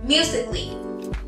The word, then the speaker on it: musically: La primera, musically. Musically. Si te fijas, la A es muda, no tiene sonido.